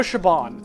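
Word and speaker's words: Siobhan: I know Shaban, and I know, Ava. Like E-A-B-A.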